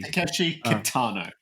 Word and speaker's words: Takeshi Kitano: Takeshi Kitano.